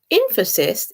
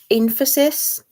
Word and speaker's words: Infosys: I think that's how you pronounce it. Infosys is a tech company, and they were founded by Narayana Murthy, who just happens to be the father-in-law of Rishi Sunak.